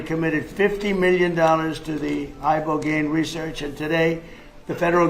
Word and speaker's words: ibogaine: In 2024, study from Stanford University, 30 special operation veterans with traumatic brain injuries underwent it's called ibogaine treatment. Ibogaine. Remember the name. Is that pronounced relatively properly, would you say?